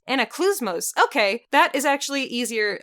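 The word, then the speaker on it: Anaklusmos: Anaclusmos. Anaclusmos. Okay, that is actually easier. I didn't know how to pronounce it before.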